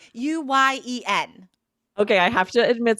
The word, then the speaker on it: Nguyen: I know this is a common Vietnamese name and I should really remember how to pronounce it. Nguyen? No, that's not it. Aubrey, do you know? It's Nguyen.